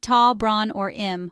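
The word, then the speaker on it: tá brón orm: In Irish, you can use tá bron orm, pronounced tá bron or im, which means I'm sorry.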